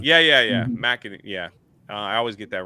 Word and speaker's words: McEnany: Kaylee McEnany. Yeah. McEnany.